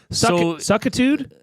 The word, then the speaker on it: suckitude: Suckitude? It's spelt as suck-it-ood. Suckitude. Suckitude.